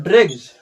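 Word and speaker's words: dregs: देखिए एक्सेप्शन की बात करें दोस्तों तो ड्रैग्स डी आर ई जी एस देखिए डी आर ई जी एस इसका प्रोनाउंस करें तो इसका ड्रैग्स होता है।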